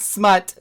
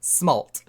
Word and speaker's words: Smalt: It's just Smalt. It's not Smut, Smalt.